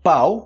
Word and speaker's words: pau: pênis Você pode falar pau Lembrando que né a pronúncia de pau e pão que vocês geralmente tem problema com isso né pão pão francês eu quero um pau francês não pau pode ser pau